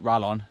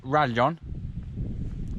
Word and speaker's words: Rallon: new orbear rarely on in english it looks like ralon but in spanish it's rajon a bit of a